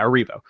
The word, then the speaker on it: Erivo: That's how you pronounce, yeah, Erivo.